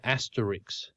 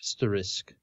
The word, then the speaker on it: asterisk: now really GRS me when people say asteris yeah instead of asterisk and now I sound